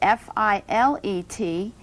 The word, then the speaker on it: filet: If you're speaking about meat cookery, the French word F-I-L-E-T, it's pronounced filet, and that's the proper way to talk about a fillet of beef.